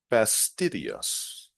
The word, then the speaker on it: fastidious: before publishing regarding pronunciation pay attention to the stress on the second syllable V fidus another thing